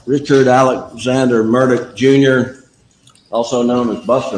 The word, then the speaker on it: Murdaugh: got yes spell your last name Richard Alexander murdick Jr m-u-r-d-a-u-g-h I go about buster murder I guess I've been saying it wrong Mr murdick is is your father sitting over here at